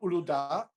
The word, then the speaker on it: Uludağ: No, it's called Uludağ, and it comes in the traditional flavour, which is clear, but it's a fruity citrus mix or orange.